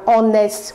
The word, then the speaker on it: honest: incorrect well you say my mother is an honest woman because the first letter of the word illness is silent and it is pronounced as vowel when